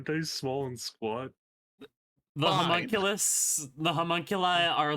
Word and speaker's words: homunculus: You homunculus. Homunculus. No, not homunulus. Homunulus. I had a friend who pronounced it that way.